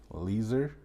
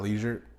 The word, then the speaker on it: Lieser: So anyways, I'm here with my absolute close friend, Leeser. Said it correctly. Literally just learned an hour ago how to say it. It's not leisure.